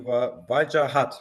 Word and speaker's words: Wajahat: Nice to meet you, Wajahat, right? That's correct, spot on. You Wajahat, mentioned Wajahat. it, you pronounced it pretty accurately.